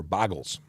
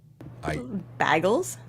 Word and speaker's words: bagel: lady who used to go for boggles on a regular basis bagels bagels okay and if you're watching